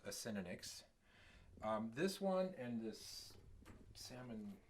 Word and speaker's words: Acinonyx: So that's how it's pronounced, Acinonyx.